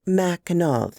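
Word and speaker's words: Mackinac: attempt it to make it's pronounced mackinaw dear mrs sprout corrected me i tried to hide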